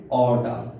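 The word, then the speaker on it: aorta: Number 9 पे जो blood vessel है उसका नाम है ऑर्टा, ए इसमें साइलेंट है, ऑर्टा होगा, ठीक है।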